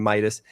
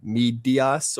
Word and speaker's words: Midas: didn't know the name Midas. He he tripped himself up on the wrong on the wrong part, right? Usually when people try and pronounce Midas, if they don't know, they go like Medios or Mi, but he he